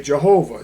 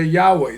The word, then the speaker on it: Yahweh: Some pronounce that they say Jehovah. Some say Yahweh. Some say um different names but none and some don't pronounce it and some say it's too sacred to pronounce.